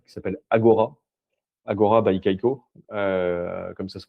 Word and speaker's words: Kaiko: Agora by Kaiko, comme ça se prononce, où il y a tous les grands